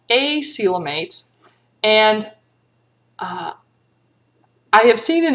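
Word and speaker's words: acoelomate: and they are called acelamates and i have seen in a few places where people suggest that you pronounce because normally we pronounce this the c and coelom like an s silum and they suggest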